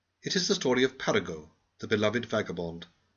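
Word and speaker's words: Paragot: It is the story of Paraggo, the beloved vagabond. Please pronounce his name French fashion.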